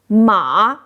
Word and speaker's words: mǎ: Third tone ma means horse the animal we ride.